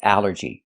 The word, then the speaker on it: allergy: The first thing that's important is the al. This word breaks the rule. The rule is a ll makes the sound all like ball and call. But here it makes the a sound. The short a like an apple and black.